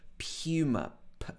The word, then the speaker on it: Puma: Okay, this is probably not the pronunciation in the original language, but in the UK we would normally say Puma, not Puma, but Puma. P-U, Puma.